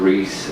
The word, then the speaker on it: Resz: that last name, and it's actually pronounced Reese, like the Reese's peanut butter cup.